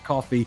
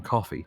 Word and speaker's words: Coffey: just what led Coffey to be in that cell. Your name is Coffey? Yes, sir, boss. Like to drink, only not spelled the same.